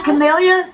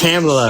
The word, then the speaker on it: Kamala: He may have been better than Camellia, but he's still a piece Kamala.